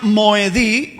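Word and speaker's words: מוֹעֲדֵי: Quiero que observen las palabras amarillas arriba en el hebreo, y quiero que esta palabra de aquí se pronuncia Moedí, y esta palabra última de acá se pronuncia Moedam.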